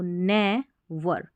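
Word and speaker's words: never: अब इसको नी नहीं पढ़ना है, NE को, नेवर, नेवर gives, नेवर gives up.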